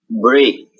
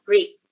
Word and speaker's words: break: Break. Break. Good. Ya, so it should be break, not brick.